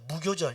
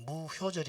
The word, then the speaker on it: 무교절: 이 발효할 때 효자인데 이 교라고도 발음을 또 한자로 하나 봐요. 무교절이라고, 무효절이 아니라 무교절.